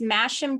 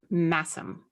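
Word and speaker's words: Masham: okay here's my yarn for today oh it's mashem dk and let me okay naturally died by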